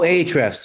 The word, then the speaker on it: Ahrefs: Oh, Ahrefs.